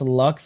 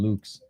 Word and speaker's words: Lux: He was like, "It's pronounced Lux." I'm like, dude, I wish it was pronounced Lux, but it's pronounced freaking Luke's.